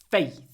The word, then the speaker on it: faith: very important to me faith faith it it's an a sound but it's between two unvoiced syllables so faith we clip the a faith more F faith faith faith faith my faith my